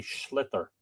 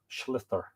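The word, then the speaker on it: sliotar: called a puck no it's called a Slither um s l i o t a r I believe is how it's spelled s l i o t a r Slither the title in Irish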